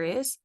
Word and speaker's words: hay: would say I now I know there's a h in that word but remember the H at the beginning of the word in Spanish is silent so it's just I